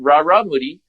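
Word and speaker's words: Rarámuri: I mean, I pronounce it Raramuri.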